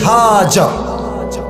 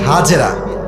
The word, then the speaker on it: হাজার: বউয়ের নাম বিবি হাজার। নাম কি বলেন সবাই? আমরা বলি বিবি হাজেরা, এটা সঠিক উচ্চারণ না, আরবি উচ্চারণ হচ্ছে বিবি হাজার।